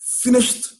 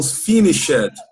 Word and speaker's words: finished: Geralmente as pessoas que estão começando a aprender inglês, elas vão falar uma palavra no passado, que tem o ed, e elas falam finished. Não. Você tem que falar finish, é o verbo. E se é no passado, você só pronuncia o D. Finished.